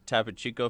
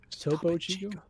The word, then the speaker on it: Topo Chico: It's got 2 O's. Where are you getting the I from? Who? You. I don't know. It's just Tapo Chico. Topo Chico.